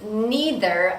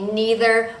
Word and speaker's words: neither: like the word either the word neither also has two pronunciations you can say neither or neither it doesn't matter in British English neither